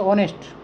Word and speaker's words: honest: अब इसको पढ़ेंगे तो पढ़ते टाइम तो इसको पढ़ेंगे ऑनेस्ट, ठीक है, क्या पढ़ेंगे, ऑनेस्ट। लेकिन जब अपन इस तरह स्पेलिंग की तरफ से देखेंगे तो इसका पहला वर्ड क्या है, एच है। इसका मतलब बच्चे क्या करते हैं, कंफ्यूज में होकर के आगे ए लगा देते हैं।